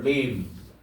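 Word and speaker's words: limb: 림 림이 뭐야? B는 묵음이에요.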